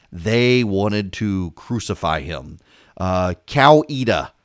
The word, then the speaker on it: Coweta: would be amazed at the anger that is generated by mispronouncing Coweta for example Noonan I someone I was actually running a congressional campaign for candidate in Coweta County and he referred to it as cow EDA and you would think